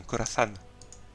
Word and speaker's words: Khorasan: Vous avez vu, je prononce bien avec l'accent en plus, un Khorasan.